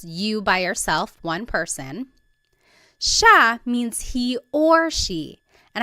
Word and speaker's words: siya: It looks like it should be pronounced siya, but it's actually pronounced siya, siya.